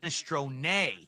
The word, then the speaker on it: minestrone: In Italian, it's pronounced minestron.